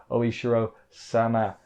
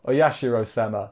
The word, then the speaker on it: Oyashiro-sama: It's hard to say. My voice is going. It's oh yeah. Sorry, you know what I'm trying to say, even if I'm saying it wrong. Oyashiro-sama. There we go. I said it right once.